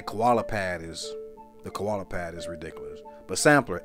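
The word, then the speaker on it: Samplr: But Sampler, S-A-M-P-L-R is how it's spelled.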